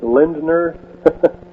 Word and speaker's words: Lindner: All right, would you uh pronounce that name once again? Uh Lind- Lindner.